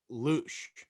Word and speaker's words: louche: louche. How do you say that? Loosh.